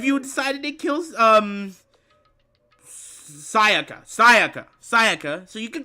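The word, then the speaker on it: Sayaka: It's Saiaka, not Sakaya. I don't know why I say Sakaya.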